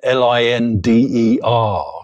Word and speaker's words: Linder: I don't know if you know Linda, Linder. So it's spelled Linda.